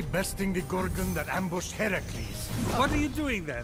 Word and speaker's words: Heracles: Phoenix, after boldly besting the Gorgon that ambushed Heracles.